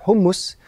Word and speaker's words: houmous: C'est du houmous. La façon normal de le prononcer, c'est hummus.